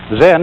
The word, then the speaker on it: Zen: this experience is dominant then of course is a japanese word and it's spelled cem and that is the japanese way of pronouncing the chinese word chan and this in turn